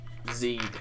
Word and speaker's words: Zeed: Zeed. Zeed? Like seed, but with a Z.